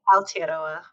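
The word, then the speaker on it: Aotearoa: Can you pronounce that for me? I don't want to. It's a beautiful word. Yeah. Altera.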